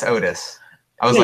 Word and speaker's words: Otis: Because I said Otis elevator stuff, and then you were like, "Ooh, is it Orbis?" or is it say Orbis?" No. I said it wrong. It's Otis, right? Yeah, it's Otis.